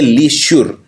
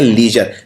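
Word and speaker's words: leisure: और इसमें जो जर है ये श्योर नहीं है, ये जर बोलते हैं इसे, लीजर। तो इसको ये नहीं बोलते लीश्योर, इसको बोलते हैं लीजर।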